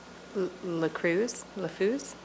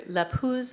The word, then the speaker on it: LaPuz: Certainly, it is either LaPuz or Barad.